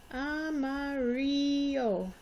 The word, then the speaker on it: amarillo: When there are two L's together, it's going to make a Y sound. The I sounds like an E, and the A sounds like a short O sound.